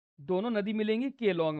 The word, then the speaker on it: Keylong: है, दोनों नदी मिलेंगी केलोंग में। इसकी स्पेलिंग एक्चुअली में KEY है, KEYLONG है। कीलोंग नाम की जगह है हिमाचल प्रदेश में, जहाँ पे चेनाब नदी दोनों नदियों के मिलने से बनती है।